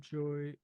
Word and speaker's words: Gioia: Ted Joy. No. It's spelled Gioia, I think.